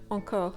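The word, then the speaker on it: encore: how to pronounce it start with the sound a as in bagette ah and then round your lips and try and push the air through the nose a or the sound or can generally be written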